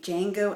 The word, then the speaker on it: Django: gab and i'm reviewing django unchained the d is silent the new quentin tarantino